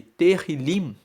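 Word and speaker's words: Tehilim: o livro de Salmos chama-se terril se escreve t e h i l i m e terr liim traduzindo para o português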